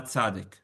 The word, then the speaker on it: Tzadi: The letter of Tzadi that is connected with, Some people pronounce it Tzadik. I know, but it really is Tzadi.